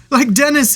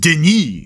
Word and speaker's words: Denis: Like Dennis here. Well, hello. Excusez-moi, it's pronounced Denis, you dumb robot.